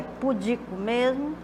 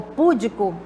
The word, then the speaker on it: púdico: É assim que se pronuncia? Pudico mesmo? Ou púdico, perdão, porque aqui da forma que está escrita, né? A sílaba destacada significa a sílaba tônica. Será que é púdico?